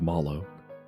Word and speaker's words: Malo: The name Malo was written on his belt, and it even said in parenthesis, "It's pronounced Malo."